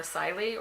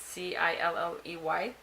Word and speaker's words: Cilley: The other book I read was Sync Reflections by Marla Siley, or Kylie, or however you say her name. It's Cilley.